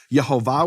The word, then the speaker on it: Yehovah: the Vatican junk box Yehovah with the full vowels that was known to be the pronunciation of his name it is it is